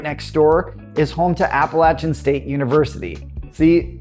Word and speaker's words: Appalachian: And then Boone, right next door, is home to Appalachian State University. See, that's that North Carolina pronunciation at work again.